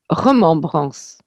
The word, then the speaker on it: remembrance: Malgré son apparence anglaise, il s'agit d'un mot français vieilli, reconnu comme tel par la voix automatisée des autobus, qui le prononcent à la française, remembrance.